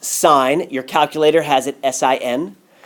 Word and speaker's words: sine: We have one called sine. It's pronounced sine. Your calculator has it S-I-N. So that's not sin. We pronounce it sine.